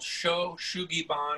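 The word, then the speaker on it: shou sugi ban: the sighting is called sho shugi bon it's spelled s-h-o-u a no it's three words the next word is shugi s-u-g-i third word is bond b-a-n so you can look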